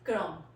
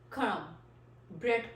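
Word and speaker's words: crumb: Next word is क्रम. क्रम, bread क्रम्स. क्रम्ब नहीं होता, क्रम्बलर नहीं होता, क्रम.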